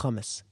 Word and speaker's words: hummus: some uh some hummus humus that's how you say it humus like that and